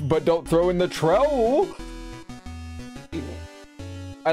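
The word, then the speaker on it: Troupple: Half trout and half apple, pronounced like trout mouthful. Trowel.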